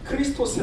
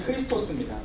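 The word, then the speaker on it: Χριστός: 생 드시죠 여러분가 뭐냐면 헬라어로 어 그리스도 예수님을 크리스토스 아고 부릅니다 앞에 떴죠 보이시죠 그 엑가이 발음이 크리스토스 크리스토스이 엑스는 바로 크리스토의 크리스도 예수님의 첫 번째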